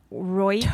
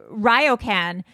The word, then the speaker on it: ryokan: And I was looking at I'm going to mispronounce it. Royken? Tokyo? The Tokyo? Japan? Oh, Ryokan? Ryokan.